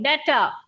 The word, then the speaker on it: debtor: Okay, debtor. It is not debtor. I have told you several times. B is silent.